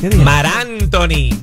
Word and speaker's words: Marc Anthony: I just want to correct you, you said it wrong. Lo dijiste mal. Es Marc Anthony.